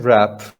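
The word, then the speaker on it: wrap: Yeah, it's silent, right? Rap. There's no W.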